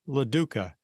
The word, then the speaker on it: LaDuca: the world today I'll be visiting with Diane laduca did I pronounce that correctly you did oh okay good